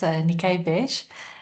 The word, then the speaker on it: Niké Wesch: Um, I'm really excited for um for this opportunity and um don't worry you uh you pronounce my my surname correctly. Uh my name is Nikay Bes and um as as you've heard I'm in